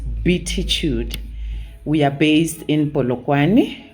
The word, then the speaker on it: Beatitude: beatitude psychology center and when you write it down it might look like it's be attitude but is pronounced betitude we are based in